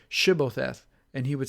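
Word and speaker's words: Shibboleth: When he would say no, they said to him, "Then say Shibbotheth." And he would say Sibbotheth, or he could not pronounce it right.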